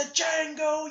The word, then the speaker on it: Django: He says, "The Django, you black son of a bitch!" And he says, "The D is silent."